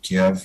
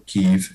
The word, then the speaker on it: Kyiv: little closer to the Ukrainian capital city of Kiev, or Kyiv, if you want to use the current pronunciation.